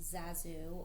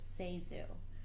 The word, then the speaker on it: ZaSu: and news articles although the name is commonly mispronounced Zazu or zesu in her 1963 book candy hits published the year of her death the actress gave the correct pronunciation is seu recounting that Mary pford had predicted many will